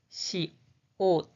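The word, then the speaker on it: 시옷: The pronunciation is sa, sa, sa. The name is she ought, she ought, she ought, she ought, she ought.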